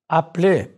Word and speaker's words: appelez: Note how the e instable is not pronounced. Appelez.